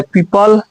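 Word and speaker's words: people: जैसे ये होता है पीपल, ये होता है अमीबा, यानी कि ई के बाद भी आ गया वो तो वो साइलेंट हो जाएगा। यहाँ पे ई के पहले भी आ गया वो, तो यहाँ भी साइलेंट हो जाएगा।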